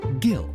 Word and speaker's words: Gill: gets the job done Gil like a fish